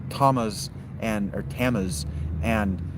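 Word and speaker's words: Thamus: It's not Famis and thuth. It's Tamas and or Tamas and Toot.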